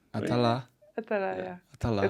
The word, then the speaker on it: Attallah: Attallah, yeah. Attallah. That's still the French way of pronouncing, but all good. Attallah.